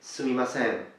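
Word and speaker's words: すみません: Now notice that the N at the end is nasalized, is nasal. You pronounce it with your nose.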